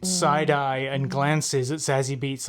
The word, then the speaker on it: Zazie: Oh, by the way, I looked it up and it's pronounced Zazie. Zazie Beetz. Zazie. Like kind of like the sea, Zazie.